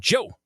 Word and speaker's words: Djo: He's been on Free Guy the movie, and he also performs in the band Joe. Okay. Interesting. Spelled DJO, but it's pronounced Joe.